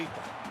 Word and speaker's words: Njigba: All right, how do I pronounce this? Let's see. Njigba.